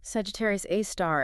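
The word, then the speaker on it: Sagittarius A*: Ours is called Sagittarius A, pronounced A star. Sagittarius A star.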